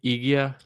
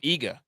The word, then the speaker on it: Iga: How do you say her name? Igia? What? Oh, Iga.